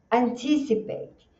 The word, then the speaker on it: anticipate: Olha aqui, você tem o que é que nem se fosse o Batman. Batman. Então ele não é um e do português, ele faz um e nos filmes, quando eles falam that's bad, é esse sonzinho.